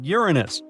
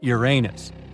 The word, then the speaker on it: Uranus: Actually, astronomers say we should be pronouncing it like Uranus, not Uranus. I can't say a different stress changes much though.